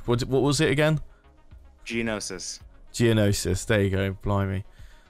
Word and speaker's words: Geonosis: Much like the old school corruption from FOC, and going straight to I can't pronounce this name. What was it again? Geonosis.